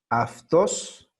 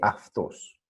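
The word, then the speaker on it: αυτός: Aftos, ¿cómo se lee? Se escribe autos, pero se lee aftos.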